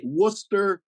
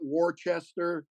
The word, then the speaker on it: Worcester: than Peabody yeah pey you know Worcester not Worchester you know it's you